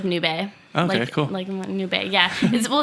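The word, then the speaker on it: nube: barking all the time yeah cute yeah yeah noob a noob a it means cloud in Spanish oh yeah that was like a noob a like well yeah it's pronounced like noob a okay yeah well it's my roommates dog okay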